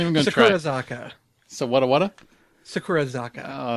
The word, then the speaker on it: Sakurazaka: I was waiting to see how you were going to pronounce it. Hell no. I'm not even going to try. Sakurazaka.